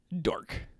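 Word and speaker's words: Darq: First off is a game called Dark. It's spelled D-A-R-Q.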